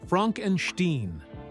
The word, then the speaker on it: Frankenstein: Frederick Frankenstein, pronounced Frankenstein.